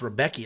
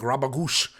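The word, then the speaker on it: Rębecki: Who thought, and it's not even pronounced Rebecki. It's like Rabagouche, some weird, don't even look at the letters if you're saying his last name.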